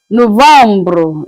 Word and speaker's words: novembre: November is pronounced as Novembre.